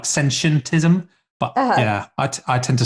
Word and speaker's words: sentientism: I've practiced, but yeah, the easiest way to think of it is sentient and then put ism on the end.